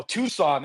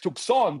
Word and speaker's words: Tucson: them on things like you don't pronounce it you know Tucson it's tuon because the original root word of that word is Chon like so I was correcting